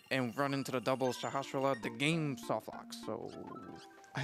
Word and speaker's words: Sahasrala: There's one of the sages, Shahashala, or however you pronounce Sahasrala. Name. Sahasrala. Yeah, Sahasrala.